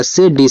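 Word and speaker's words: said: देखो इससे आपका छोटा सा देखो जब बीच में ए आई होता तो उसको ए की मात्रा के रूप में आपका से डी से आपका ड आपका सेड।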